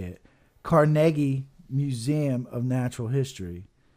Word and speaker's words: Carnegie: but this is actually how you say it Carnegie Museum of Natural History it's not Carnegie it's